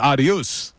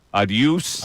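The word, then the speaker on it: adeus: doing the Google translate it's the same as Spanish normally it's not in Brazil it's aduse aduse you there aduse aduse all right aduse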